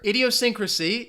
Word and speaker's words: idiosyncrasy: five all right now let me show you the answer idiosyncrasy you guys are close it has six syllables alright and I've